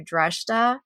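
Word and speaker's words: Dreshdae: And so what I thought was interesting was that they took him to Dreshta, is the way that they pronounced it in the book, which I never realized that that was the capital city of Korriban.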